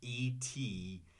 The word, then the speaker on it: etiquette: E-T-I-Q-U-E-T-T-E. The pronunciation in English, etiquette. Notice that the T is pronounced like a D.